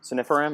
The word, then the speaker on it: sunifiram: And I'm going to use that how do you pronounce that? Sunifiram? Sunifiram, yeah.